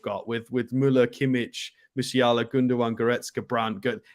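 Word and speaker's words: Gündoğan: Alex, it's Gundogan. Please pronounce it properly.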